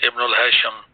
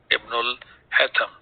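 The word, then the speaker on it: Ibn al-Haytham: To talk about Ibn al-Hatham, that we pronounce as Ibn al-Hasham. Sheen is not there in the Arabic language, so we will call it as Ibn al-Hatham.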